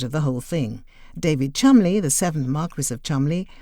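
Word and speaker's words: Cholmondeley: who are not British this name though pronounced Chumley is spelled c-h-o-l-m-o-n-d-e-l-e-y Merlin Hale the 24th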